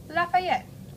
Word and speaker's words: Lafayette: and most of the world we call him Lafayette all one word pretty easy to pronounce although people in the South call him